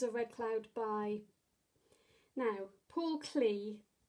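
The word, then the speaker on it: Paul Klee: red cloud by now paul clee i think is supposed to be pronounced powell clay um and yeah just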